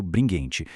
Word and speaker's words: Bringhenti: e Identidade do Márcio Bringuente. E um detalhe rápido, a pronúncia é bringuente, tá? Com som de guê.